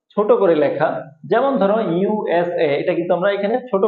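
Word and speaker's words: USA: এখানে কিন্তু আমরা প্রত্যেকটা বর্ণ অথবা প্রত্যেকটা শব্দ কিন্তু আলাদা আলাদা করে উচ্চারণ করতেছি। ইউএসএ, প্রত্যেকটা অক্ষর আমরা এখানে আলাদা আলাদা উচ্চারণ করতেছি। যদি আলাদা আলাদা উচ্চারণ করি তাহলে এটাকে বলা হবে অ্যাব্রিভিয়েশন।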